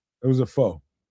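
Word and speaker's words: phở: A fa a foe. A fur, however you pronounce that. A ramen. Uh, you know, huh? It was a foe.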